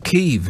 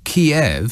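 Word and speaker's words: Kyiv: to get anywhere if people are calling it keeve now in recognition of how the ukrainians um pronounce their own capital city's name if you say kiev i mean that just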